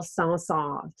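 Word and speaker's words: Saint-Saëns: if you don't know in French you don't pronounce all the letters so this is just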